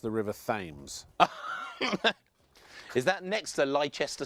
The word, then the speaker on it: Thames: Now, Richard, I just want to say I have it on good authority from an American tourist that it's pronounced the River Thames.